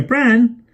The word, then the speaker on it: Bran: hey Brandon over here bran he pronounced the name with a long but vowel Jane noticed like the sound inside farmer barn she had never heard